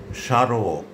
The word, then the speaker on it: স্মারক: যদি শব্দের প্রথম ব্যঞ্জন বর্ণের সঙ্গে মফলা যুক্ত থাকে তাহলে সাধারণত তার কোনো উচ্চারণ হয় না। তবে প্রমিত উচ্চারণ রীতিতে মফলাযুক্ত বর্ণটির উচ্চারণে খানিকটা নাসিক্য প্রভাবিত হয়, অর্থাৎ একটুখানি নাকিস্বরে উচ্চারণ হয়।